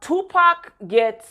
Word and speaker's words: Tupac: Now, Tupac rhymes with got, okay?